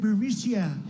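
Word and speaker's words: Burisma: this uh bureaucia burmesia they say pronounce it borisia a real beautiful company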